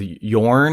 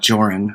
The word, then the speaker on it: Joran: thing with him with Yorn I think is how you how I saw it pronounced oh that it's j okay I think so not joran all right yeah but don't